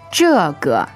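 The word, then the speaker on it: 这个: this in Chinese is J J all right fourth tone and neutral right that's right okay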